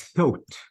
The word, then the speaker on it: thought: The past of think is thought. Thought. Okay. برافو. So this is thought. People thought الجي that. اتش ما بقراها؟ No. على فكرة دانا كل جي اتش تكتب ولا تلفظ.